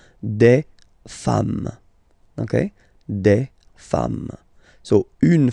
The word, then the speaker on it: femmes: singular form and then you just add this s at the end, and as we said, you don't pronounce it, so you get des femmes.